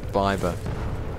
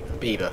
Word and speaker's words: Bieber: the difference between Robert Green and and Justin bber Bieber Bieber sorry I mean I love him so